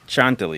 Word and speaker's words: Chanthaly: behind uh dearest sister and how do you pronounce the first one I don't want chant Chantell yeah and um she is a very she